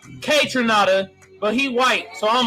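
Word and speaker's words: Kaytranada: saying anderson pack and contra nada is actually pronounced k tranada but he white so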